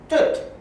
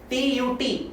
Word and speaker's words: Tut: That is King T-U-T. We can call it Tut, we can also call it Tut, as you feel comfortable. Both the pronunciation, they are right.